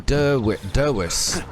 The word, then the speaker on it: Dervis: Okay, so Nihal, and I love the way they keep calling him Derwish. Even though it's spelled Dervis. I said that's the actual pronunciation.